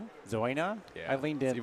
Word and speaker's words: Zäuner: Zena. Say it again. Zena. Zena.